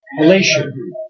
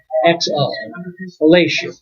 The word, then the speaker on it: Aleixo: Okay, so The Outside Groove, and under his name, Christian with a K, Alessio, but it's spelled Aleixo, Alessio.